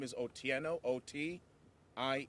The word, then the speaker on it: Otieno: v o that's pronounced I vote the r is silent Ivo last name is otieno OT i e n o o tieno okay